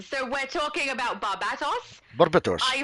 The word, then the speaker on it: Barbatos: Barbatos. I pronounce it correctly.